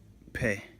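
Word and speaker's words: פא: And if it doesn't have that dot, guess what it's pronounced as? F. There we go. Letter F.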